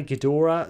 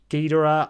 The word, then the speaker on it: Ghidorah: pronounced some people say gadora some people say Gora I sometimes I usually I don't even think I have a preference I think I mix it up um whenever I mention